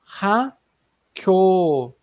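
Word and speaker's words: 학교: Então, como tem o som dos dois que se encontram, o som daquele K seco ali em patim, né, encontra com o outro, acaba ficando um som mais forte, fortalecido.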